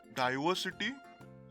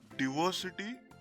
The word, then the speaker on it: diversity: the pronunciation of i in the british format these words are pronounced as diversity direct and privacy the i in these